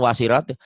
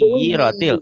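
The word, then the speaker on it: وَسُيِّرَتِ: Iya, bacanya bukan wasirat. Kan ada tasnya nyamber. Wasui. Wasuyiratil.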